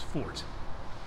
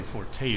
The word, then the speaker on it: forte: That was really his forte. Right. I say forte, but forte is apparently the proper way to say it.